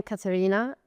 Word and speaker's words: Caterina: I am Caterina.